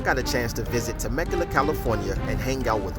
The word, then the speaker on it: Temecula: On this episode of the Herbalife Roadshow, I got a chance to visit Temecula, California and hang out with one super cool couple.